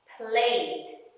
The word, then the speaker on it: played: There are 3 different pronunciations for ed. Pronunciation number 1, d, d. Played, t, t. Stopped, id, id. Started.